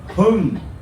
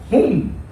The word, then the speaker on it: Hung: And in Vietnamese, it's pronounced Hung, right? But the Chinese people, they call me Hung. Because Chinese people can't pronounce Hung.